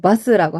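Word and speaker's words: バス: 너무 강하게는 아니고, 바스라고 하셔야 됩니다. 버스 아니에요?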